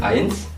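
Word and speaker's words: eins: angka satu itu disebut ains ains itu ada e sama i jadi bacanya ains ya guys ya betul angka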